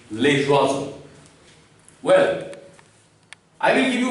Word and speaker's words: les oiseaux: were reading it as le oiseau, which is wrong. But after knowing this rule, you have corrected your mistake. So this is wrong and this is correct pronunciation, les oiseaux.